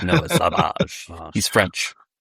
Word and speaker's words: Savage: I mispronounced it the whole time. I kept calling him Savage and it's like no Savage.